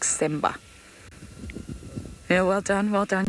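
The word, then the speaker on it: Tsemba: all voted on semba but it's t-s-e-m-b-a sort of a silent t if you like simba yeah well done well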